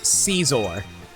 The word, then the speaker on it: Scizor: Like a pair of scissors, so Scizor.